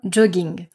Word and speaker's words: jogging: Pareil, c'est un mot qui à la base est anglais mais on va le prononcer à la française. Un jogging.